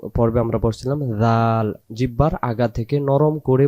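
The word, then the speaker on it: ذ: জাল অক্ষরে জিহ্বার আগা থেকে নরম করে পড়তে হয়। জিহ্বার আগা থেকে আমরা এই অক্ষরটাকে, এই 3টা অক্ষরের নাম 3বার নাম ধরে ডাকবো। জাল, তারপরে জাল, তারপরে জাল। জিহ্বার আগা থেকে উচ্চারণ জাল জের জি।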